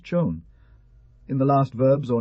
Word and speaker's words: Juan: Q grant tan and san preserve the end, Juan is pronounced chon.